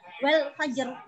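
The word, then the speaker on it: والفجر: Nah, ini ro sukun karena wakofnya menjadi diwakofkan wal fajr. Nah, wal fajr mencucu. Ini mencucu, tafkhim itu bacanya mencucu.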